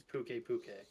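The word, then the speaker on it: Pukei-Pukei: And I just heard them pronounce it as Puke Puke.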